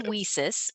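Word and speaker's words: WiCyS: in cyber security um it's pronounced whisis for we sisters in cyber security we have a CSUSB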